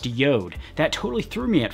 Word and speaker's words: JORD: yo'd watches it spelled like jord but it's pronounced Yoda that totally threw me at first but I